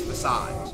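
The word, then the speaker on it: façade: Well, yeah, it's facade. Facade is the actual way that word is pronounced.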